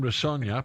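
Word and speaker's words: Rosenior: I was going to say Rossignol. What did I say? You told me earlier. Sonia. As in Sonia. Coming up, Liam Rossogna, played with his old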